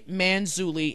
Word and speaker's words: Manzulli: Manzulli, and I said his name wrong in the first video, it's Manzulli, L.A.